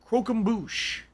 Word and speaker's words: croquembouche: factor once those parties go down okay it's pronounced cro croquembouche a croquembouche yikes that's hard to say croquembouche